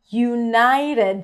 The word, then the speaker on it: United: United. The T here is a flap T.